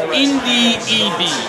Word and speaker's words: Ndudi Ebi: I'm sorry, we've been pronouncing his name wrong. Where's the first? It's Ndudi Eby.